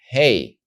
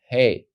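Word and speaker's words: ה: know that it's the letter hey the soft ha and if you don't see the Gap you know it's the letter head slightly harder ha now we go forward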